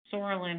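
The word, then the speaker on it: psoralen: oral drug called sorelin saurolin has a silent p so that's why it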